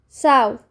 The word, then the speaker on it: south: south. south. التي اتش بتتنطق حرف ث.